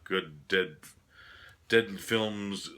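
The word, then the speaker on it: Good Dead Films: director Nick Box's label good dead dead films like dead good films like that's how you pronounce it it's kind of like a tongue twister name for the label his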